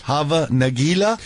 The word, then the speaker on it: Hava Nagila: Hava Nagila?